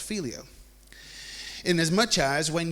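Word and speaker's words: phileo: to our next one our next word is called filio and this is spelled p-h-i-l-e-o okay filio okay we're gonna set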